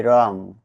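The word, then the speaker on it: wrong: letter D সালে থাকবে ডবলিউ আর ও এনজি রং অর্থ ভুল এখানে ডবলিউ পরে আর আছে তাই ডবলিউ লেটার সাইলেন্ট থাকবে ডবলিউ আর এপি র্যাপ মানে মোড়ানো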